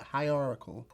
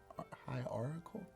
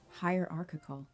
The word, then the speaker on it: hierarchical: know it's high r or high it's like high oracle um are it's not article it's hierarchical i feel like it's hot oracle but that